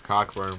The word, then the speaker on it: Cockburn: Yes, Kofi sir. Cockburn. It's Cockburn, bruh.